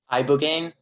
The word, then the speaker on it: ibogaine: Ibogaine.